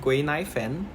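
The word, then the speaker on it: Guinaifen: there's a girl named guineaifen she's a four-star fighter knife yes like that that's how you pronounce it in Chinese but essentially um this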